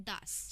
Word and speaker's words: das: सो हम मेल को बोलते हैं डेयर, फीमेल को बोलते हैं डी एंड न्यूट्रल को बोलते हैं दास.